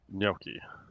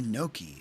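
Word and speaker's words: gnocchi: Noi. Okay. That's what I thought. Yeah. You said Yeah. So other people say Noki and I'm like I don't think that's it. Even though it looks like it.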